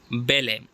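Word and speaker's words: ballet: आर आई टी वगैरह बेल इसके बाद जो है बेले इसमें टी सालन है ये एक क्लासिकल फॉर्म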